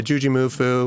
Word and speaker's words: JuJu Mufu: Is that how you say his name? Yeah, Juji. Juji. Yeah. Juji Mufu? Yeah, Juji Mufu.